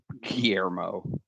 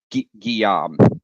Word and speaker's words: Guillaume: His name was Pierre Guillermo. God, what an idiot. Guillaume.